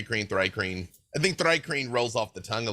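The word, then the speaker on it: Thri-kreen: see here hold on it says dry cream all right it's sort of like thigh cream yeah very famous that's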